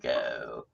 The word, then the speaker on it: Seiko: to see that that is how you say Seiko yeah someday I'll cover uncover it and uh